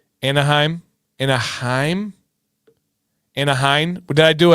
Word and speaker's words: Anaheim: And so, yeah, it's pronounced anheim. What was I saying? Anaheim.